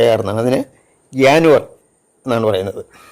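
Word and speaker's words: Januar: എന്നുള്ളതിന് ജെ എൻ യു എ ആർ എന്നാണ് അതിന് ജാനുവർ എന്നാണ് പറയുന്നത് ജ ഉച്ചാരണമല്ല അതുപോലെ ജെ എ യ എന്ന് പറയും എസ്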